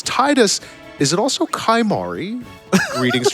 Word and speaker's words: Tidus: It's canonically pronounced Titus, and I will die with him on this hill.